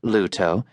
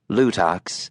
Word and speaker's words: Luto: Though it was correctly pronounced Luto, not Luttox as the co-driver kept calling it, Jon was keeping his mouth shut.